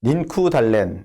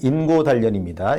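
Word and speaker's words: 인고단련: 또 학생들이 조선어를 쓴다고 때리고 닌쿠달렌, 일본어 발음입니다만 인고달련입니다.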